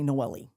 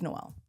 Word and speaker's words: Noel: They'll say Noelli and I'm like, "Oh, no, it's it's Noel."